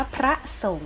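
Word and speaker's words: พระสงฆ์: อ่าน ว่า อะไร เอ้ย อ่าน ว่า พระ สงฆ์ นะ คะ ขอ ระฆัง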